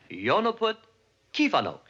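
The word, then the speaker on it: jó napot kívánok: Yo napot kivanok. Jonaput kivanok. You see, in Hungarian, accent's always on the first syllable.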